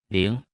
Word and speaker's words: 零: 零。零。零。零。零。零。零。 Se pronuncia con el segundo tono.